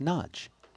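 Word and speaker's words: Nagy: and that is that n a y in Hungarian is pronounced nudge nudge the surname however of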